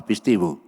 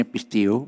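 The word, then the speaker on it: πιστεύω: Kata percaya itu berasal dari kata pistiu. Katakan sama-sama, pistiu. Pistio atau pistiu, ya, tulisnya pistiu, bacanya pistiu. Itu artinya yang pertama adalah melekat kepada Tuhan.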